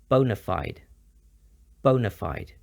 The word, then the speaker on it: bona fide: mean genuine or real there are several popular pronunciations with the most common being bona fide some examples only bona